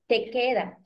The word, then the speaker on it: te queda: Like, is it Takeda or Takeda? I mean, how do you say that again? Because it sounds like I'm hearing an R. No, te queda. Te queda bien.